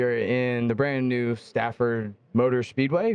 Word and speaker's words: Stafford: We are back at yet another Formula Drift, and this time we are in the brand new Stafford Motor Speedway, right?